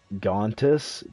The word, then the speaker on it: Gontis: It's Gontis, but Crusher always pronounces it with a J, like Jif.